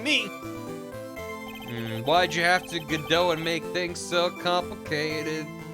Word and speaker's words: Godot: Why'd you have to Godot and make things so complicated? The O's are sounds too. Oh, so it's pronounced did it.